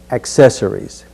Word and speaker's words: accessories: with the word accessories notice the C in accessories the C accessories next we'll say candidates